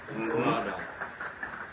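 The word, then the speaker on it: רדף: The Hebrew term is rada. Come on. Just the original term for pursuit, rada. And it's spelled R-A-D-A-P-H. You can pronounce it like you want to pronounce it.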